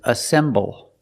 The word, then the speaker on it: assemble: the first word is assemble assemble it's three syllables ass assemble the stress is on the second syllable assemble and the second